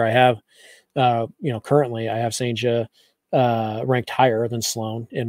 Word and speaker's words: Cijntje: Yeah, it's Cijntje. Yeah. Yeah. According to the Mariners pronunciation guide, it's Cijntje.